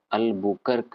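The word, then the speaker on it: Albuquerque: आता है अल्फेंस डी अल्बर cure Q इसको आसान भाषा में भारतीय भाषा में अल्बुकर्क भी बोलते हैं लोग तो जो प्रोनाउंस करना है आपको वो प्रोनाउंस कर सकते हैं पांचवा आरमेडा कह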